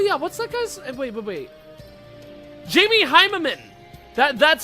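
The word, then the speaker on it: Jamie Hyneman: Jamie Heimerman. That's how you pronounce that.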